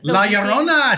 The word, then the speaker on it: La Llorona: La Llorona. Huh? What? the weeping. La Llorona, sí.